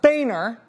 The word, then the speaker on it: Boehner: But if I was going to become not Rachel Ann Maddow, but rather Rachel Ann Boehner, it's pronounced Boehner, the state of Texas for a long time,